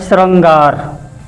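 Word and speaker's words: शृंगार: इस तरह से नहीं लिखते, क्योंकि सा में रा बताया गया है, लेकिन उच्चारण क्या होता है, श्रृंगार।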